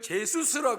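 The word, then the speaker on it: Jesús: 그런데 남미에 있는 친구들 보니까요, 축구 선수가 뒤에 이름 보니까 지저스, J-E-S-U-S 다 이렇게 써놨어요. 그 제수스라 그러고, 누가 이름을 제수스라 그래. 그 나라 발음으로 그렇게 했는지, 저 집안은 믿는 집안이고 저 아들은 믿는 아이구나, 이런 생각을 합니다.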